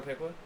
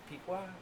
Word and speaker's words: Piqua: Pequot? Pequot? Paqua? How do you pronounce it? It's Piqua. It's Piqua.